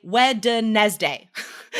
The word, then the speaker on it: Wednesday: write the word wednesday in your head say wednesday right w-e-d-n that makes no sense we don't say it like that right if you if you say it phonetically wednesday or yeah just so